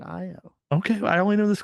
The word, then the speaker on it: Ayo: I knew someone who spelled their name AYO and they pronounced it IO.